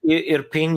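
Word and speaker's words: Irpin: on a residential area in european i'm probably not pronouncing that right where's that city at uh sergey yeah european you you pronounce it right it's suburbs of kiev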